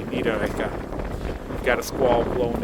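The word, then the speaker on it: Niederegger: This is Nidita. The two G's pronounced more like a K. Nida.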